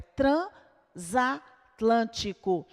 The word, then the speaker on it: transatlântico: Então, neste caso, o último S do prefixo trans formará a sílaba com a primeira vogal da palavra seguinte. Então, é transatlântico. O mesmo ocorre aqui, vejam, bisneto, nós temos aqui o prefixo bis.